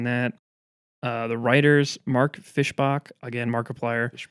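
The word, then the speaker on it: Fischbach: It's Fishbach. It's Fishbach. It is Fishbach according to AI overview.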